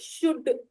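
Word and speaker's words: should: तो हम क्या करेंगे, जैसे हम लोग बोलते हैं ना शुड, शुड बोलते हैं। आपको तो पता है कि शुड में एल साइलेंट है, कई लोग नहीं जानते इस बात को, है ना?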